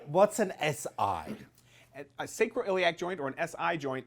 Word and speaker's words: sacroiliac: We want to talk a little bit about, and I'm never going to get it right, the correct pronunciation for this word is? Do it. Sacroiliac.